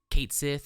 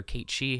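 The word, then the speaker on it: Cait Sith: more likely um is kate sith or kate she however you prefer to pronounce it um so we get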